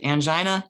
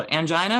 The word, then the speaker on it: angina: to start off with angina and arrhythmias so angina or angina is a medical term for chest pain so very simple just remember angina or angina it's pronounced both ways it may be caused